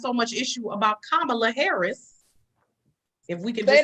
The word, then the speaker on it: Kamala: Let's and that's why it's so much issue about Kamala Harris. If we could just say a little bit on. Say it again for the people in the back. Kamala. Is it Kamala?